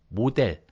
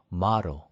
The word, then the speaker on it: model: 모델 아니고 model 이렇게 된 거예요. 모델 아니에요. 그렇죠?